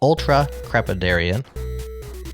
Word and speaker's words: ultracrepidarian: The word is ultra crepidarian. Spelled for our listener, it's spelled ULTRACREPIDARIAN.